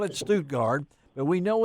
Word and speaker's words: Stuttgart: The man himself, the world champion duck caller from Stuttgart. I did see on TV that they did call it Stuttgart, but we know it's Stuttgart here in Arkansas and in the Mid-South.